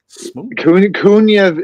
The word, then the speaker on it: Kuniev: How you pronounce that, Kyle? You're good. Kuniev. Kuniev. Yeah, you're correct. Kuniev, if he would have just been able to